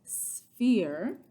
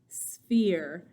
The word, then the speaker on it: sphere: but the math geometric word for it is sphere spelled s-p-h so we're saying like us sphere when we pronounce this word okay all right so what